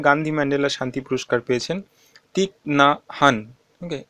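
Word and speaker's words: Thích Nhất Hạnh: তো 2019 সালে গান্ধী ম্যান্ডেলা শান্তি পুরস্কার পেয়েছেন তিক না হান। ওকে, উচ্চারণটা একটু দেখে নেবে, তিক না হান, ইনি পেয়েছেন গান্ধী ম্যান্ডেলা শান্তি পদক।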